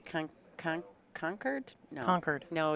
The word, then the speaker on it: Concord: supposed to say con conquered no conquered no you don't say the r it's like yeah you